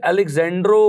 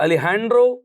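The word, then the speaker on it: Alessandro: हम आम अपनी नेटिव लैंग्वेज में इसे Alexandro Volta कहते हैं, लेकिन ये इटालियन फिजिसिस्ट था। इसकी इटालियन में जो सही प्रोनाउंसिएशन है वो Alejandro Volta है।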